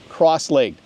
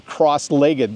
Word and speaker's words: cross-legged: You can also sit cross-legged or cross-legged. There's two different ways to pronounce it. I think in the UK they say cross-legged, and in America and in Canada we often say cross-legged.